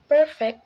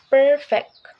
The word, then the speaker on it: perfect: awesome not oh perfect here the first syllable per is stress giving us perfect not perfect Flawless lastly in this